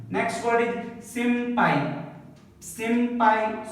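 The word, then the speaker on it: 先輩: Next word is simpai. Simpai. So before the P and B, if N comes, just remember the ma sound.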